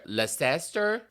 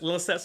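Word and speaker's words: Leicester: It would be like, "Oh, it's so nice to be playing in Green Witch or Leester." Because Lester Lester Square like that really how they pronounce Lester. They would say Leester and Tottenham for example, they were pronounced Tottenham.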